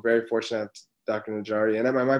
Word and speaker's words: Najari: Najari, and am I pronouncing that correctly? That's correct, yeah, Najari.